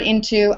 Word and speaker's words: into: This meter is forcing me to stress to into the park. But that's not how the word is pronounced, is it? It's pronounced into. Um, this word into, I've done it.